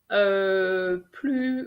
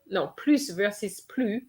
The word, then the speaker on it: plus: So there is a video, plus versus plus on French action. So for those who are not sure about when to use the S of plus, then you can have a look at this video.